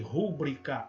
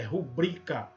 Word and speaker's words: rubrica: Não existe rúbrica, é rubrica.